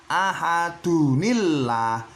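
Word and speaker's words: أَحَدٌ اللَّهُ: Berarti cara bacanya harus ahadunillah ya. Ahadunillah, dunillah walaupun di sini tidak ada nun iwatnya ya. Walaupun tidak ada nun iwatnya bacanya tetap ahadunillah ya.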